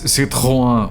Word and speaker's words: Citroën: But the correct pronunciation is Citroën, which only French people ever call it like that.